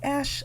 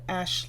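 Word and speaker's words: Asch: that these Talking Heads Are relying on the ash effect in a previous video on my channel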